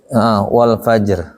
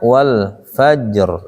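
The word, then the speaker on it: وَالْفَجْرِ: Wal Fajr. Jim itu kan huruf qalqalah. Jadi cara bacanya wal fajr, langsung, jangan wal fajr.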